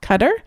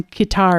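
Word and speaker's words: Qatar: that actually says that the Arabic for us translates much closer to our word cutter than um than qar which is how many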